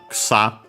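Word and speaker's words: 草: We have mentioned before the term for grass, ksa. Also, this is a very game because of the grass type moves. Ksa, accent on the last mora. The first one is the U is barely heard if at also.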